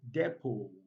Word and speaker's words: depot: silent then we have depo depot now don't confuse this word with deport there are two different words different meanings different spellings and different pronunciations so this is depo